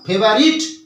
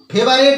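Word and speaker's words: favorite: নাও mathematics mathematics গণিত ইজ হয় মাই আমার ফেভারিট প্রিয় সাবজেক্ট অর্থাৎ বিষয় তাহলে গণিত হয় আমার প্রিয় বিষয় কি লিখলাম mathematics is মাই ফেভারিট it subject মাথায় রাখবে এটা কিন্তু ফেভারেট নয় এটা কিন্তু ফেভারেট ফেভারেট এই উচ্চারণটা নয়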